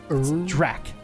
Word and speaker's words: Drak: but hey dear YouTube that's how you say my name there's no more Drake anymore on YouTube Drac I don't know why